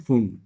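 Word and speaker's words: Pfund: और फिर होती है पास्चन, और फिर होती है ब्रैकेट, और फिर होती है पी साइलेंट है, फन कह लीजिए।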